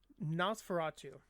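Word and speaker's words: NOS4A2: Funny enough, though, speaking of her, Nosferatu. It's a new TV show based on, it's spelled NOS, number 4, A, number 2, and it's written by Stephen King's son, Joe Hill.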